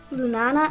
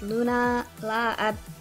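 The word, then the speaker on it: Lunala: up next is lulana lulana I L lunana I think that's how you pronounce it it's Luna La again awful with names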